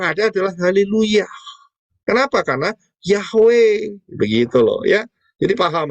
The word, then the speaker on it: Yahweh: Ya, dan mereka dengan menggunakan nikut itu ternyata mereka belajar, ternyata bacanya Yehova. Keliru.